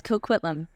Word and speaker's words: Coquitlam: Coquitlam, is that how you pronounce that? Coquitlam? Yes, Coquitlam.